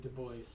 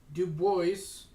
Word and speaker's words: Du Bois: I think he pronounces his name Du Bois, who did not hide their support and sympathy for the Communist Party.